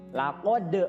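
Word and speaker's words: لقد: Laqad khalaqu. Nah, di situ juga sama, qaf, ya, terasa di sini, ya, cara membacanya. Kemudian tajwidnya juga harus qalqalah atau harus mantul.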